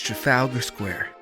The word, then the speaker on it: Trafalgar Square: The right way to pronounce the name is Trafalgar Square.